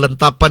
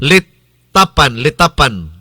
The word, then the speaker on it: Litapan: Klarohon na ito ato ni klarohon pronounce kay basig mahimong lantapan hinuon. Litapan.